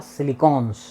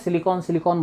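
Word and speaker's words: silicon: हम लोगों को तो हम लोग सिलिकन जो उसकी स्पेलिंग है उसके थ्रू क्या बोल देते हैं सिलिकॉन सिलिकॉन बोल देते हैं but that is नॉट the right pronunciation right pronunciation इ सिलिकन ओके सिलिकन के बाद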